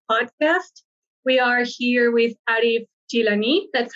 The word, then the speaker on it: Arif Jilani: in the new podcast we are here with arif gilani that's how you pronounce it no that's correct yeah okay perfect